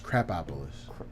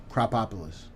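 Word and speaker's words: Krapopolis: You said it wrong. It's Crapopolis. What did I say? Cropopolis.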